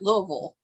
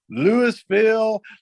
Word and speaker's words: Louisville: Well, we have a T-shirt that I think says it all, and we have like 5 different pronunciations on the front of a T-shirt.